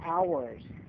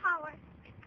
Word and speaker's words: hours: No, hours. Capitol Howers. Capitol Howers. Okay. Capitol Hours. The H is silent.